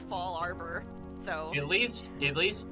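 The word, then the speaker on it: Fallarbor: ] all the time i thought it was faller bore for a long time in pokemon before i realized it's actually it should probably be fall arbor so at least at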